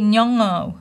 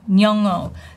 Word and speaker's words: Nyong'o: No, you want to say Nyong'o, Nyong'o. Lupita Nyong'o. Lupita, dear Lupita, if I mispronounce your name, let me know.